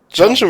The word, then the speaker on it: Genju: Sifu Genju. Janju wird es ausgesprochen, take a oh break.